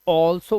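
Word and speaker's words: also: इसे आल्सो नहीं, ऑल्सो बोलते हैं।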